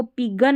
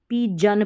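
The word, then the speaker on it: pigeon: अब इसको पिगन नहीं, पी जन पढ़ना है, GEON।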